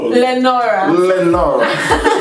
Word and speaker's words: Lenora: Is it Laura? Lenora.